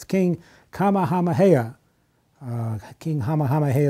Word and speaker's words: Kamehameha: to ye and I have a little trouble pronouncing this name but it's pray it's King Kamehameha uh King Hama Hama hey the first and